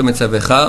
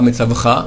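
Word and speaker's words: מְצַוְּךָ: Alors, vehayu hadevarim haele, asher noche metzavecha, metzavecha, pas metzavcha, metzavecha, de nouveau un shvana.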